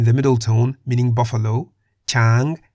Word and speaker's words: ช้าง: For example, Gai in the low tone meaning chicken, Kwai in the middle tone meaning buffalo, Chang in the high tone meaning elephant, So in